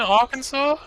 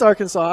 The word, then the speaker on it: Arkansas: go and embarrass myself our kansas is in arkansas no it's arkansas i'm i'm i'm intentionally